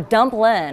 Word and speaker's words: Dumplin': You know, I'd love to ask you about the project that you have going with Jennifer Aniston, the movie Dumpling. Or Dumplin'.